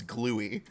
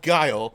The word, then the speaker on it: Guile: And we would be like, no, it's spelled Guile. Like it's like Guile, and we'd show them the word Guile in the dictionary and be like, see how it's spelled the same?